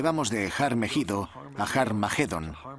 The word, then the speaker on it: Armagedón: De hecho, en las primeras versiones del Nuevo Testamento escritas en griego, Armagedón tiene una aspirada al principio, que significa que se pronuncia con H inicial. Por tanto, originariamente era Harmagedón y podemos pasar de